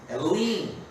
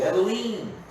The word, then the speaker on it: Elohim: Elohim, né? O Elohim. A pronúncia mais portuguesa, mas em hebraico, Elohim.